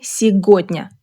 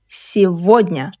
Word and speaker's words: сегодня: In this word, g sounds like v. Don't say сегодня, say сегодня.